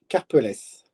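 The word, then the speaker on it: Karpelès: Mark Karpeles. Karpeles. Karpeles. Yeah, it's French, so I mean the French pronunciation ends like this.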